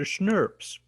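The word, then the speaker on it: snRNPs: It's like you pronounce it like schnapps, like German liqueur, but schnurps. That's how I'm saying you should pronounce it. I don't actually know how people pronounce it, but that's how I do it.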